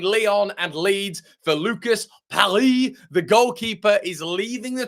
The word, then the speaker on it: Perri: Lucas, let's get the pronunciation right everybody. Perry is on his way to Lead United.